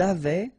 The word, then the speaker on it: avaient: Ils avaient, so look here, E, N, T, you write them, you don't pronounce them.